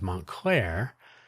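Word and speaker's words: Montclair: I believe it was Montlair. Yes, Montlair. Spelled differently, but uh, you switch the two halves. Claremont, Montlair, two syllables, whichever order you care for.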